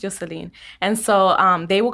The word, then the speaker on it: Yoselin: And so my name is spelled Yoselin. Yeah. I mean, it's pronounced Yoselin.